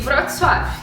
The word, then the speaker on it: Wrocław: Chama-se Wrocław, em polonês. Quer dizer, não sei se pronuncia exatamente assim, né? Porque brasileiro pronunciando polonês não é 100% certo. Mas é isso que eles falam aqui, que a gente fala, né? E ela se escreve assim, vou deixar escrito aqui, ó, como se escreve, porque não é a mesma pronúncia no português, né?